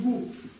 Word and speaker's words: དགུ: Если стоит предписная, то что? А звончение и тон выше. Это будет гу.